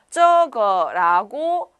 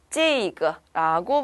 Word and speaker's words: 这个: 자, 요때는 발음이 쯔그 라고 읽으면 되세요. 그러면 이것이란 단어가 되죠. 자, 역시나 중국 사람들은요. 저거라고 발음하지 않아요. 외국인들만 거의 저거라고 명확하게 발음을 합니다. 일반적으로 중국인들은 찌이거라고 발음을 해요.